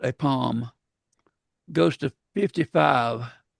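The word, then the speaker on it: pome: Is it palm or pommy? It's palm. Like it's just like dome. I've been saying pommy but it rhymes with dome pal.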